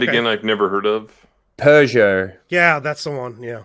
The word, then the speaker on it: Peugeot: oh hugo okay yeah it was the way you were pronouncing pojo that's a peugeot okay i forgot that's